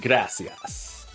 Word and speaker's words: gracias: from I know so Spain Spanish it's gracias and then Mexico Spanish gracias the jib s jibs